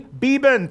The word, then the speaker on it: Beban: the bag show 1967 Heisman Trophy winner Gary beeban thanks for being on the show Gary thank